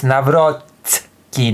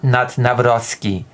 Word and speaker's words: Nawrocki: Also, it's Nawrocki, not Nawrocki. There's a very big difference between the sound S and the sound T.